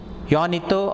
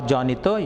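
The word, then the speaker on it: Juanito: petra hermaid don gonzalo yonito or jonito yanita is usually the pronunciation his servant so two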